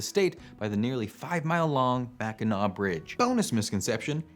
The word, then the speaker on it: Mackinac: by the nearly 5-mile-long Mackinac Bridge. Bonus misconception, it's not pronounced Mackinac. Only an absolute fool would call it Mackinac.